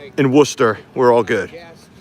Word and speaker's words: Worcester: If I can pronounce Pucket in Worcester, we're all good. It's not Warchester.